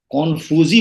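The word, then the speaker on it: 孔夫子: और अभी जो आप बात कर रहे थे कन्फ्यूशियस, तो कन्फ्यूशियस को भी जो चीनी भाषा का जो उच्चारण है, उस उच्चारण के हिसाब से कॉन्फ्यूजी बोलते हैं उसको, कॉन्फ्यूजी।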